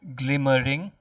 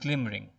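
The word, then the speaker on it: glimm'ring: replaced by an apostrophe suggesting that this word has two sounds not three but two sounds it's not glimmering but it's glimmering e is silent okay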